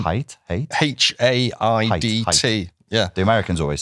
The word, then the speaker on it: Haidt: Well, but this is quite topical because I think Jonathan Haidt, is that how you say his name? Haidt?